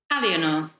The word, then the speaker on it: Aliénor: How do you pronounce that again? Aliénor. Aliénor.